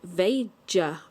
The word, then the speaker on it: Veja: I think it's a Brazil company, and you pronounce it Veja, something like that.